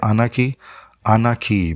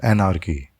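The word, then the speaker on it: anarchy: रहा हूँ, ये अनार्की, एक्चुअली अनार्की जो है बेसिकली वो सही टर्म नहीं है। इसका सही जो वर्जन है, इसके दो बेसिकली प्रोनाउंसिएशन हैं इसके। एक है अनाकी, बेसिकली आर जो है इसमें आर जो है वो साइलेंट है, ये इसका ब्रिटिश, ठीक है, प्रोनाउंसिएशन है अनाकी। और इसका अमेरिकन जो प्रोनाउंसिएशन है वो है एनार्की।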